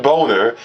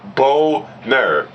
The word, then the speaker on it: Boehner: And John Boner, and before anyone fucking talks to me saying, oh, that's not how you say his name. Yeah, well, guess what? I'm saying it based upon how it's spelled.